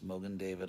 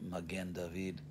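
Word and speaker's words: מגן דוד: local synagogue, which is Mogan David up on Pico near Beverville. And actually, when I went to Israel and I said Mogan David, they all started laughing because it's actually Magen David.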